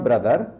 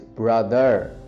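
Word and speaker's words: brother: Just remember आपको आर हल्का सा रोल करना है। सो इट्स नॉट ब्रदर इट्स ब्रदर। इफ you want to sound more fluent and sound we द बेटर accent.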